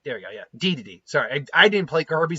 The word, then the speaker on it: Dedede: Then we have Leon Kennedy versus King Dedede, or DDD. There we go, yeah, Dedede.